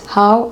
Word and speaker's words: how: C'est super important de comprendre que c'est pas oh, c'est how. Et il y a une sorte d'air qui sort avec le H. Parce qu'en anglais, on va venir prononcer le H avec une sorte d'air. Donc how. Un peu comme quand tu dis ow.